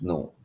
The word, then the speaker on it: know: when we look at the word KNOW, how it is spelled KNOW, but when you speak it, the K is silent, right? It's no.